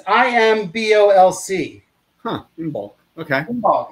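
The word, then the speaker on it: Imbolc: february and it's kind of this feast um in bulk is a celtic word that means in the belly how do you spell that it's i-m-b-o-l-c huh in bulk okay it's kind of it's not the best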